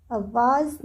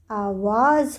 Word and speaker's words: आवाज़: आकाश को हमें इस प्रकार लिखना है और इसका उच्चारण है आकाश। अगला शब्द है आवाज़। आवाज़ नहीं होता है बच्चों, आवाज़ होता है, आवाज़।